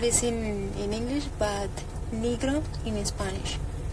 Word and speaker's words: Negro: don't know what is in in English but negro in Spanish o n r o okay mhm and don't it's her last name is pronounced negro it's n e g r o okay and